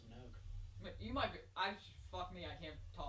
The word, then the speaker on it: Minogue: you probably heard kylie monolong's music without realizing it i i'm just i swear that's pronounced minogue you might be i